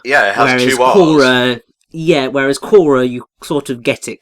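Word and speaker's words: Quorra: idiot but hey she is Cora not Cara I called Cora from large inner core Cara for so long until I was like you know I got to rewrite my brain memory biology and pronounce it the right way yeah but I can see how you think that it would have been Cora because it is spelled sort of like Cora yeah yeah whereas Cora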